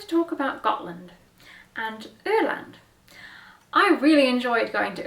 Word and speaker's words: Öland: I'm pretty sure that O with two dots is not pronounced the same as it is in German. I feel like it's pronounced like ew, like ew. Let's Google Translate it. I don't know. Öland. That doesn't sound like ew.